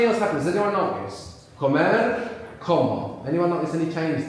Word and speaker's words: comer: Comer, como. Anyone notice any change there, apart from what I've mentioned? The intonation, comer, we have the accent on the end.